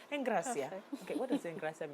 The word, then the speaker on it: Engracia: to pronounce it that way it's the right pronunciation Eng Gracia okay what does eng graia mean though graceful